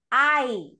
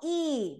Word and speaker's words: I: First of all, you don't change, guys, when you talk about I, pronunciation of this personal pronoun, I, no E, because I heard some people pronouncing this E, E am.